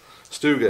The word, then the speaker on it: StuG: Is it Stug or Stug? Stug. Stug. I've heard it both ways. Stug, I think, is the correct pronunciation.